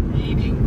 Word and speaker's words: Reading: Reading should be spelled R-E-D-D-I-N-G.